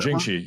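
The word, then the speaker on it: Brinjikji: I've tried to pronounce it. It's a really complex one. Brinjinci, is that Brinjinci, yeah.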